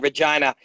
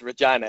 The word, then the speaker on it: Regina: The little tip to remember how to say Regina, they say it's the town that rhymes with fun.